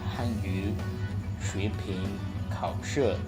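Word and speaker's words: 汉语水平考试: HSK stands for Hanyu Shuiping Kaoshi, or if you want to pronounce it using the right pronunciation with the tones, it will be Hanyu Shuiping Kaoshi. Oh no, it's still not perfect. Hanyu Shuiping Kaoshi, and it will it's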